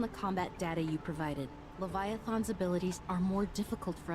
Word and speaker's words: Leviathan: Based on the combat data you provided, Leviathan's abilities are more difficult for us to counter. You pronounce it Leviathan, not Leviathan.